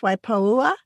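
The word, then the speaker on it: Waipoua: Is it pronounced Waipaua Forest?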